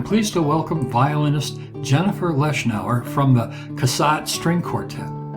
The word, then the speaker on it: Leshnower: uh the wonderful violinist Jennifer lesnau did I say your name right precisely right oh man I could